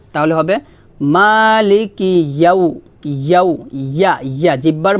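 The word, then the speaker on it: مَالِكِ: ইয়াও ইয়াও মালিকি ইয়াও এখানে দেখুন মা এটা হচ্ছে মধুর হরফ এক টান হবে কারণ আমরা শিখছি খারা জবর খারাজ উল্টাপাল্টা পেশ আসলে মধু হরফ হয় মধু হরফ হলে এক লিফ টানে পড়তে হয় লাম জের এটা হরকত হরকতে টান নাই কাফজের কি এটাও হরকত টান হবে না ইয়া ওয়াও জবর ইয়াও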